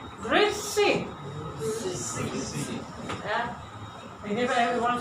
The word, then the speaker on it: Grüezi: They will say Grüezi, and you have to have also the accent, yeah? Not only Grüezi, yeah? Grüezi, they sing, they go up. Grüezi.